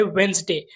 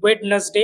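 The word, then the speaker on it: Wednesday: आपल्या लिस्ट मध्ये आहे वेनसडे मल्टिपल टाईम आपण या वर्ड प्रोनन्सिएशन वेडनेसडे अस ऐकतो पण या शब्दामध्ये डी हा सायलेंट असल्यामुळे आपण याच प्रोनन्सिएशन वेनसडे असं करायला हवं जर हा व्हिडिओ तुम्हाला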